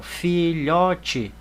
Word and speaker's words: filhote: sílaba, olha aqui, ó, filhote. Eu já coloquei a quantidade de espaço necessário para separar a sílaba. E vejam que a sílaba tônica de filhote é o lhó.